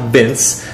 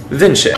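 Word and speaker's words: LeoVince: They're an Italian company, so it's not pronounced like Vince. It's pronounced Vinci.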